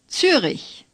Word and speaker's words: Zürich: Say Zürich. The Ü is like the Ü in Düsseldorf, only a little bit longer.